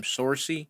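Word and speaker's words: Saoirse: It's actually that girl Sarcy. However the fuck is Sarcy? How do you say her name? Sorcy.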